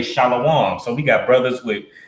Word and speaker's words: Shalom: no shallow one right shallow one comes from the mispronunciation of a bastardized version of Shalom where a vowel was inserted with vowel points on the wa to make it a o so your oppressor says